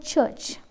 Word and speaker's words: church: Next word, church, church. U and R stands for vowel sound U and R, church. R is silent in the word church.